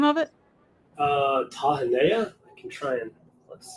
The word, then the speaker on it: Tahanea: Tahanea.